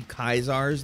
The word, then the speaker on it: Caesar: That would be Kaisar's Legion, spelled Caesar but pronounced Kaisar by Legion members, a brutal conglomeration of